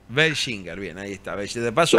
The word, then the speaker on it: Welschinger: Como como puedas pronunciarlo está bien, pero se pronuncia Beler. Belinger.